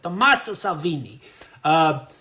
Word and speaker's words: Tommaso Salvini: I was in Rome for like a week, so I think my pronunciation is Tommaso Salvini.